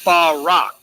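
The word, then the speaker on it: בָּרָק: Let me show you how to pronounce that word. Definition: a flash of lightning. Say it with me. Barak.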